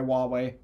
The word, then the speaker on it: Huawei: our wireless modem is actually uh manufactured by wway yeah like who like who who way who way however you pronounce it it's not bad it's pronounced W